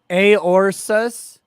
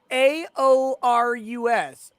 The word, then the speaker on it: AORUS: take that take that aorsus no there's no s it's a o r u s i'm saying aorus and that's what it's